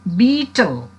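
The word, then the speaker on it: betel: in the pronunciation uh most of the students tell it battle this is not a battle beetle beetle beetle knot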